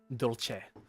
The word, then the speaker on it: Dolce: Dolce. Dolce. It's so funny how people can't pronounce my last name.